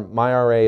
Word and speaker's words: MyRA: It's unclear whether he knows how to pronounce the acronym yet. There's a lot of confusion on that point, but I've got it right today. The basics are MyRA is a starter retirement